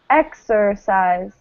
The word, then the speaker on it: exercise: What happens to this vowel here in the ER? Exercise. The E turns to E. Yeah, it turns to the schwa, right? The neutral vowel. It's kind of like right? Exercise. Exercise. So it turns into this neutral vowel sound.